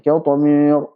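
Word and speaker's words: قطمير: Qitmir, jangan sampai qitmir. Misalkan qitmir, me, salah. Qi, jelaskan kasrahnya.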